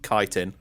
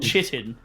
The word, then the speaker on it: chitin: you know also uh bonus points for correct pronunciation of kiteen oh thank you thank you not chitin yeah that's what that's one